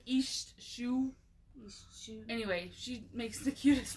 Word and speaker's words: Iesthsu: It's, if you know who Stacey Easthue is. By Easthue, she means HST. You've probably seen it written and don't know how to say it. IESTHSU. Yeah. She pronounced it East. It's like East Shoe.